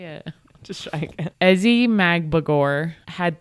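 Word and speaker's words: Ezi Magbegor: Ezzy Magmagor. Say it again. How do you say it? Just try again. Ezzy Magbagor had 3 key blocks towards the end of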